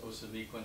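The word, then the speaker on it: Ousamequin: will see Osamequin, and it's the O is an interesting O. I think it's a Greek letter. Pardon me? Looks like an eight, but it's pronounced Osamequin, and there are five or six spellings.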